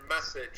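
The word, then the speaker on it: Meccage: I was talking about Justin Message is how it's pronounced there.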